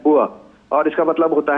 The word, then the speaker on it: bourse: ये जो आप बात कर रही हैं बोर्ड्स की, जिसे अंग्रेजी में BOURS लिखा जाता है, लेकिन ये एक फ्रेंच वर्ड है जिसका उच्चारण है बुआ और इसका मतलब होता है एक स्टॉक मार्केट, एक मार्केट प्लेस।